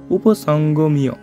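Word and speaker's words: উপসংগম্য: আমরা জানি অন্তর্জ থাকলে ইয়র মতো উচ্চারণ হয়, এজন্য উচ্চারণটা হবে দুর্য ধনস্তদা আচার্যম উপসঙ্গমীয়। এই যে আচার্যম এখানে রস্যকার আছে, এজন্য এখান থেকে আবার উচ্চারণ করব উপসঙ্গমীয়।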